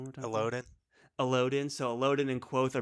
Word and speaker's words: Elodin: and when he's with Quoth and Ari, and it's how do you pronounce it again? Say it one more time for me. Elodin? Elodin.